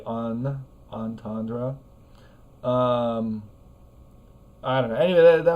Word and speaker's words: entendre: So we have this whole third syllable of the word that's not there in French because we want to give the R sound its own syllable. And we don't use the French R sound, we use the English R sound. And we also don't really say a nasal vowel. We don't say on, like entendre.